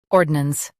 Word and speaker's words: ordnance: Now read the syllables shown on the screen naturally. Ord. Nance. Ordnance. Emphasize ord and keep nance soft.